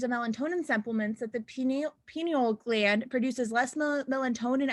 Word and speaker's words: pineal: does it have to be true that our penal game i don't even know how to pronounce that p pineal pineal gland produces less melatonin pineal thank you